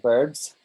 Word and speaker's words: verbs: Yeah, I'm just laughing at you because you're saying verbs. So you're using the Spanish pronunciation of the B. Yeah, so it's verbs. V. V for Veronica. V for Valencia. V for verily, verily. Right? Not verbs.